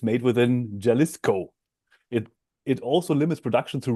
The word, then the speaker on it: Jalisco: I'm pronouncing the J as a Y, Jalisco, Mexico.